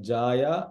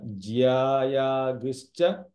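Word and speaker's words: ज्यायांश्च: So it is not jaya or jaya. It is ja and ya becomes jya. Like jyeshtarajam. Ja and ya becomes combined. Jaya. Like ja. What is that? Yeah, ja and ya. Jyayaguscha purushaha.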